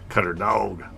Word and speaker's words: Cutterdawg: So you gotta give it that little accent, right? Dog, not dog. Dog. Cutterdawg. You hear the difference?